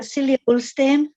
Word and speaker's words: Silje Ulstein: Well, mine will be more of a Swedish than a Norwegian pronunciation, but Silje Ulstein.